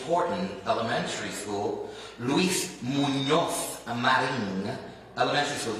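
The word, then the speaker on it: Luis Muñoz Marín: Horton Elementary School, Luis Munoz Marin Elementary School. You don't have to necessarily say it like that, but you at least need to know it's not an N.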